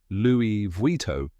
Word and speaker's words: Louis Vuitton: but did you know in France native speakers often dro the Final End sound slightly so you might hear it as Louie Vito with a subtle nasal sound at the end that's the authentic French way but saying Louie Von